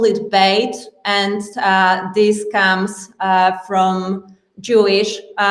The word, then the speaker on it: Beit: name it as you want it and you pronounce it as you prefer, because this is quantum name. So if you tell BEAT, that's fine. If you tell BIT, that's fine. We usually call it Beit, and this comes from Jewish, meaning home.